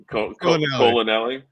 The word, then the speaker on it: Colonelli: So on on the contrary, we have uh you want to pronounce this colonelli? Yeah, like your colon and Nelly the rapper. Colonelli. Got it.